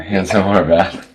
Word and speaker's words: Hansen Horvath: model and an actor, Hansen Horvath. Did I say it right? Yeah, Hansen Horvath.